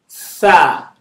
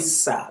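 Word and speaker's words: ث: So the top of your tongue, put it in between your teeth. Tha. Tha. Tha. Tha. Some people call it sa because it's hard for them to pronounce. It's okay. For beginners, it's fine. You get there. Is that okay? So some people say alif ba ta sa. Is that okay? It's alif ba ta tha.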